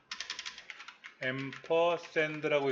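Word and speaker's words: ampersand: 퍼센드 이거를 우리는 엠퍼센라고 읽어요. 엠퍼샌드라고 읽는데요.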